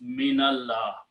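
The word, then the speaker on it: مِنَ اللَّهِ: For example, the word is udhkur, the word is min, but when we combine and read together, then min has a sukoon, but we change to fataha and pronounce minallah.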